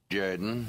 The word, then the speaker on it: Jordan: It's pronounced Jordan.